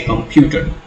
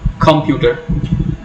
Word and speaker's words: computer: We say computer, not computer, certainly not computer.